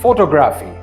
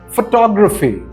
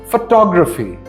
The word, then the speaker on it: photography: pronounce this word as photography however the second syllable is stressed and this word is actually pronounced photography again it's actually pronounced photography this word is pronounced